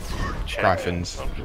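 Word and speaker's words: Gryphons: Griffins. Griffins. Griffins. Griffins. Griffins. How you spell Griffin though? It would be pronounced Griffin.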